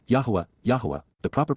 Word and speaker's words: Yahowah: and understanding we now know but W yahwah yahwah the proper pronunciation of the name of eloah God as